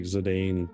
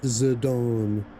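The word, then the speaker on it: Zidane: So, or according to the voice acting, Zidon. He'll always be Zedane. I don't care. Yeah. I don't know why the voice acting pronounces it like that. I mean, is that the way you pronounce it? Everyone I've ever known in existence that has played this game and has said his name is Zane.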